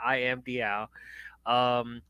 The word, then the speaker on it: I am DL: It's exactly how it's spelled right there, DL. So it's I am DL.